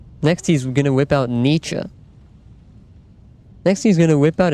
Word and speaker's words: Nietzsche: It is Nietzsche. Ernesto, welcome back. You're speaking German, you could argue that, but you aren't. But I am European. I know some about German. And I can tell you that his name is not pronounced niche.